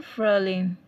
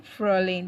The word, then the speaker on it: Frühling: Im Frühling. Remember to look at the left hand side of your video to take note of the pronunciation. Im Frühling, that's in spring.